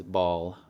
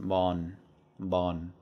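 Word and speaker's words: บอล: So you might think that this says ball, and it is actually a word that's used to mean like a ball in English, a circular object you kick or throw. Ball, but it's pronounced bon.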